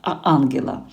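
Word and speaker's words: Angela: Ось наголос, звичайно, на а. По-друге, мене багато чого пов'язує з Іспанією. Знаю, маю друзів, які мають це прекрасне ім'я і чоловіки, і жінки. Також наголос на а.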